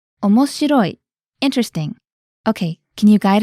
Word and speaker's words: omoshiroi: adjective tomuki how do you say interesting it's omoshiroi interesting okay can you guide us through the